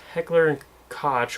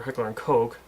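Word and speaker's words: Heckler & Koch: do know is that heckler koch or hickler and coke that's how you're technically supposed to pronounce it which by the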